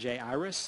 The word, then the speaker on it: Jairus: Now, I pronounce it Jairus. I come from the South. Maybe y'all like Jairus. You may also have heard Jairus. They get the I out of the way.